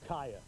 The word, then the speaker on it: Kaya: I was wanting to make sure you knew her name was Kaya. Kaya. It's mispronounced all the time.